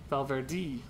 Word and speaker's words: Valverde: professional cycling and there's a guy named Alejandro valde and I say it like that cuz that's the name I know valver Valverde I must meet this bee is he an